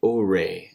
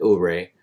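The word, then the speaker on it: Ouray: Uri is how it's pronounced, I believe.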